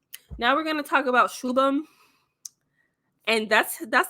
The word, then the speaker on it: Shubham: Anywho, now we're gonna talk about Shubham. And that's how you pronounce his name, y'all.